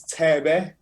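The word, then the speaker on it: Thebe: seven the only thing i'm really hearing is te be which is spelt t-h-e-b-e he's a legend quite a legend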